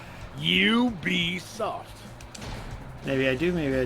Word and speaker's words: Ubisoft: Yeah, he was talking about the French pronunciation. Right on. Go Swift Sharky. Oh no, Is it I- Weebisoft? Because they're French, so it's... No, we just looked it up. You be soft.